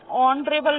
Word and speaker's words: honorable: Like the captain of the regiment is an honorable man. O, h silent है, क्या sound आ रहा है?